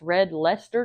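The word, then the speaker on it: Red Leicester: To my understanding, you pronounce this red leester cheese.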